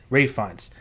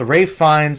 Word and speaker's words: Ralph Fiennes: And he's working with Ralph Fiennes as a director in this new drama. Rafe Fiennes. I call him Ralph. It's how it's spelled. He's working with Rafe Fiennes as a director on